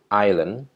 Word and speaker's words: Thailand: reefs terumbu karang Hai Thailand cara membacanya esnya Nggak dibaca ya Thailand Pulau sineri atau view